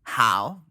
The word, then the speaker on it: Howe: How do you pronounce his name? How do you say his name? Cecil Howe. How? Howe.